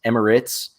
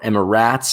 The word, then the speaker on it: Emirates: most foreign things but it's spelled r-a-t-e-s that's rates where i come from so emma ritz is way far emma ratz is at least getting